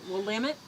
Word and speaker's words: Willamette: Willamette?